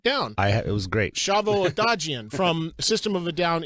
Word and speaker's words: Odadjian: Give me the proper pronunciation of your last name. Odadjian.